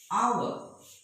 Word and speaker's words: hour: Hour. So it is not hour, it is hour.